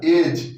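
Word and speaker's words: edge: ए, और जी से जी, तो यानी डी साइलेंट होगा, क्या हो जाएगा? एज।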